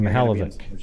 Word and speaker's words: Mihaljevic: uh amy mihalvich and maybe euger hal vic i think is how they say it actually oh don't get that wrong the hell of it the hell of it right like that yeah and uh you know